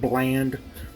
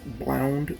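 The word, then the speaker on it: blaand: Some people think that they're making blound, and actually they call it bland, but the actual pronunciation is blound.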